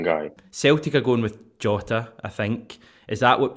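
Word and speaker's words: Jota: yeah jotter yeah jose it's just the sound of the letter j in portuguese is pronounced shutter so a lot of players who have the letter j in the name will just go with shorter hi hello hi you've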